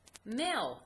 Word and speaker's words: male: As I go down the row, I can see male, M-A-L-E. And if I look at that, I can see that the M-A-L, it makes the long A sound, and the E is silent.